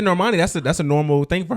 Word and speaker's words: Normani: So Noami, that's how you say it? Normani? Normani?